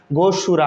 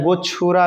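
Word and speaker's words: गोक्षुरा: देखिए, जिस उत्पाद के बारे में मैं आपको जानकारी देना चाहता हूं, उसका नाम गोशूरा है, या आप इसे गोचुरा भी कह सकते हैं।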